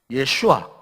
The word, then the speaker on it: 예슈아: 본래 이 예수라는 말이 이 성경 신약의 원어인 이 그리스어의 헬라 말에는 예수스라는 그런 단어, 예수스. 그리고 구약 히브리어 발음으로 말하면은 예슈아. 우리말로 여수아 그런 말 많이 하잖아요, 성경에. 예슈아.